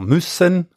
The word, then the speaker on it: müssen: Müssen, dovere, noi diciamo Messai. Quindi müssen in tedesco c'è l'accento sulla prima vocale, noi in ladino di